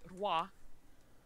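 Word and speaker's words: Roy: ROI okay right but he's French Canadian so it's supposed to be wha as in like king the thing is is that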